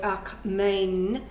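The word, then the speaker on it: ἀκμήν: Now, just as the 188 that he has already gathered in Greek is the Greek word akmein, that's how it's pronounced, meaning just now, still, yet.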